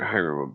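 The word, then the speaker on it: Hiram: The H in hyram which in any case is almost silent is naturally omitted as well. And so we have another hyram who according to the Bible suffered a tragic fate.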